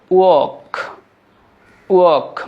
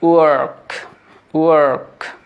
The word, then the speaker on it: work: এটাকে আমরা ব্রিটিশ অ্যাকসেন্টে বলবো ওয়াক। মানে রটা কিন্তু পরিষ্কারভাবে বোঝা যাচ্ছে যে আমি সাইলেন্ট করে দিয়েছি, ওয়াক। কিন্তু ব্রিটিশ অ্যাকসেন্টে আপনি আমেরিকান অ্যাকসেন্টে বলার চেষ্টা করেন ওয়ার্ক। তাহলে আবার ব্রিটিশ অ্যাকসেন্টে ওয়াক, আমেরিকান ওয়ার্ক।